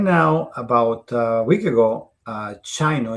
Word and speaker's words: Sino: So right now, about a week ago, Chino is spelled Sino truck. Chino it's spelled Sino truck.